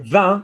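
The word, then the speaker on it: vin: word wine in french v-i-n good so van is like ow if however i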